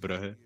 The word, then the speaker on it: Brugge: It's I think pronounce it Bruges in English. Bruges. We pronounce it Brugge.